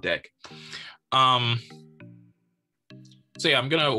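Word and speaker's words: deque: deck queue and yes it's pronounced deck so says the python documentation i'm sure there are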